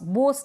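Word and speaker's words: boss: Log, flog, clog, लॉस, टॉस, बॉस, बोस नहीं बॉस, ठीक है, इस तरीके से।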